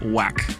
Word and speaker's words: W9K: Andrew and welcome to we're the nineties kids otherwise pronounced as wack that is math and